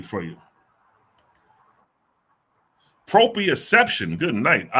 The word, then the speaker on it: Proprioception: Proprioception. Good night. All right. Proprioception. That's a goddamn word for your ass. Proprioception.